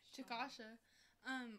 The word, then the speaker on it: Chickasha: Chickasha.